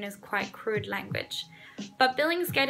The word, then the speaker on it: Billingsgate: quite crude language but Billingsgate itself actually rhymes with plenty of other words so you could say something like dinner plate you could say like Billingsgate also rounds with contemplate dictate anything with the ate and you could say